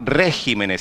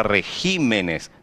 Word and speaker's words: regímenes: Porque no plural muda a sílaba tônica. Não se fala regímenes, se fala regímenes. Teve a alteração da sílaba tônica quando passou do singular para plural.